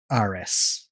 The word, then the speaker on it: Eris: And finally, we have I would pronounce this Eris. I looked up a pronunciation before. I think it's Aris.